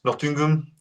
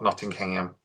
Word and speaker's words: Nottingham: It's pronounced Nottingham, though not Nottingham. Just like Nottingham.